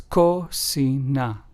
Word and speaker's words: cocina: And cocina, which means kitchen in Spanish, is pronounced as cocina.